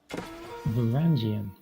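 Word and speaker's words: Varangian: Are we going to get one of those like auto pronouncers to do it for us? Verangian.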